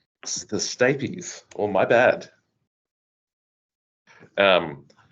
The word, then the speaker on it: stapes: They pronounce it stapes. The stapes.